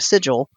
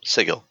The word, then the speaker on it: Sigil: I have no opinion on the chained god, but the pronunciation of the city at the center of the Outlands, that is canonically not pronounced like the word.